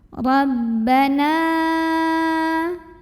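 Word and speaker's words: رَبَّنَا: Ra. Rabba. Masuk ke ba tasydid, tekanan di bibir, jangan sampai ada suara masuk hidungnya. Rabbana.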